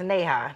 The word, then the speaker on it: Neha: And it's Neha, not Neha, correct?